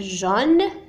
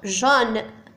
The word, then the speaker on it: jaune: لأن هنا نتحدث فيما يخص الكتابة إنما في النطق جون au masculin, jaune au féminin لا يتغير نفس الشيء.